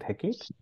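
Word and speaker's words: Hecate: to Artemis Diana and heckit is it I don't know if I've been saying it wrong all week is it hecky okay yeah due to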